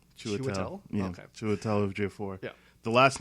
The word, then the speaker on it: Chiwetel Ejiofor: Yeah, I can never pronounce his name properly. It's like Chiwetel. Chiwetel? Yeah, Okay. Chiwetel Ejiofor.